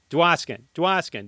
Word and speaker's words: Dwoskin: There's no duh. It's just Dwoskin.